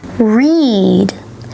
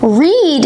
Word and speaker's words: read: Read is a little bit tricky because the spelling is exactly the same for all 3 verb tenses, but the pronunciation will change. Okay? I love to read. I read a great book. I have read lots of books. So it's read, read, read. The pronunciation is different with the past participle and simple past compared to the simple present, but the spelling is the same.